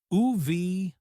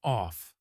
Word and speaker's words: of: Tip, pronounce it softly. UV, not off.